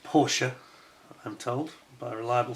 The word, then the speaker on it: Porsche: Porsche. There we go. Yes, it's pronounced Porsche, I'm told, by a reliable source.